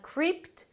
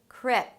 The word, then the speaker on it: crypto: Before that we want to add the 'crypto'. Crypto - it's a 'k' sound and then an R - "kr". And then you move on to the 'ih' sound as in 'sit'. Not "kreept", but "krip". "Krip" - somewhere between "ee" and "eh" - "krip".